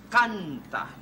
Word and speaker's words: canta: You say canta. Canta. You know how it's spelled?